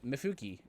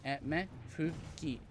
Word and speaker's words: Mifuki: Mifuki. 3 syllables. M-E, right? Mifuki. It's Japanese.